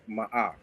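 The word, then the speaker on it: Ma'at: You know that word is not even more, right? Yeah. I'm just pronouncing it like that because that's how it looked in English. It looked like more. But can we stop you? That is actually a M. That sound is like ma'a.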